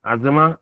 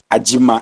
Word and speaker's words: Ajima: Azima, or Ajima? How do you pronounce it? Ajima. Ajima. Aji. Yeah, so I nearly got it right. Yeah. I used to have a student by name Adima. There's no Z.